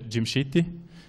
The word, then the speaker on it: Djimsiti: difficoltà di misiti gimsi di raccontarci un po come il tuo cognome albania si dice jim ct e qui slitta anche